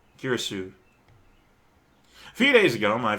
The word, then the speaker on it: Kurisu: I do know that, maybe not all Asian languages, but definitely Japanese, it's consonant, vowel, and you pronounce that entire block as a single sound. So it's Makisi, or something along those lines, Kurisu.